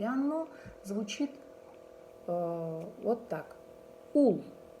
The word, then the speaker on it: ул: Ул. Ул. Мы произносится так.